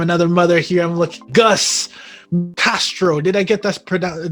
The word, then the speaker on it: Gus Castro: another brother from another mother here i'm looking gus castro did i get this product did i pronounce that correctly you got it you got